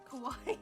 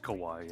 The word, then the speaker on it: Kowai: Kowai joins us. No, that was good. It's just Kowai, yeah.